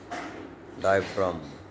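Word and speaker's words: diaphragm: आपण शब्द वाचूया paradigm डायफ्रॉम प्लेम Fareen या प्रत्येक शब्दामध्ये जी अक्षर आहे परंतु या जी अक्षराचा उच्चार होत नाही तरी सुद्धा जी अक्षर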